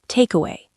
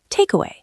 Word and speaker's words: takeaway: Takeaway. Takeaway.